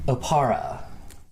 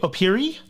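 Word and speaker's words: Oppara: No, I'm from a city in Taldor, Opara. Do you mean to say Opiri? Oh, maybe some people pronounce it that way.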